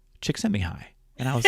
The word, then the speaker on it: Csikszentmihalyi: a few years ago as his last name, Csikszentmihalyi. Csikszentmihalyi.